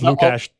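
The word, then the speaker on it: Lukáš: No, there's like a sh sound in it. Or no, it's Lukash.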